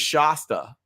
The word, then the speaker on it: Shasta: My wife's name is Shasta, like pasta.